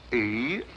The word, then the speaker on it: Eros: She added an H where there shouldn't have been one. What? Then spell it as she spelled it, but without the H. E-R-O-S.